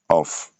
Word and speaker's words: off: On a off, off. Quand c'est O avec deux F, ça se prononce off. Mais si c'est avec un seul F, ça se prononce of, comme les sons de V.